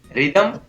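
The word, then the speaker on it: rhythm: इसी प्रकार RH साथ में हो तो H का उच्चारण नहीं होता है, जैसे राइम, रिदम, रेटोरिक।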